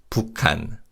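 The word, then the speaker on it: 북한: And as you can hear when we say, Kyokim assimilates with to produce a sound. So, it's pukan.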